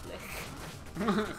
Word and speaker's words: lich: It's, so it comes from, the German word Leich for corpse. Oh. So it is Lick, then? It's, it, the common pronunciation is gonna be Lick.